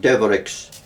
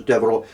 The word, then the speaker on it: Devereux: In Wexford, they tend to pronounce it Devereux. Do they? Yes, but I think it should be, it's, the French pronunciation is Devereux, who added much to the 18th century Belfast.